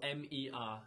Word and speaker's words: mer: And the word for sea is spelled M-E-R. It's pronounced mer.